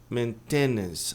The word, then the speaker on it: maintenance: Manutenção a maioria diz palavrão, né? Diz maintenance. Maintenance. A pronúncia correta é maintenance. Você esse tido maintenance. Maintenance. Tá. Mas a tônica tá aqui no começo.